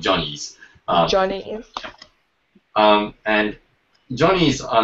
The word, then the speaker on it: Johnny's: We pronounce it Jenny's, but it's actually called Johnny's.